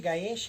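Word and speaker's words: 返し: Lembra, Kaeshi e Gaeshi é a mesma palavra, é que ela muda a pronúncia dependendo da construção da frase. Ele vai ter a ver com a palavra que vem antes.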